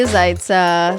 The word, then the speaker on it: Zaita: there we go um if you're wondering what the TA is it's because there's an accent on the T but English language doesn't have it some Romanian [ __